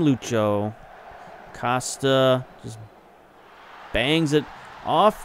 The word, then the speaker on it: Lucho: Finally figured out how to pronounce his first name. They call him Lucho.